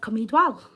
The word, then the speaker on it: Cwm Dwal: And that's pronounced like Cwm Dwal.